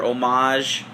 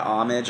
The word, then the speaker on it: Homage: is the single or omage it's just you know French yeah if you're if you're French um but yeah homage I call it but